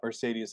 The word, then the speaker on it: Mercedes: high one time and realized uh Mercedes has three e's in it and they're all pronounced differently so you know oh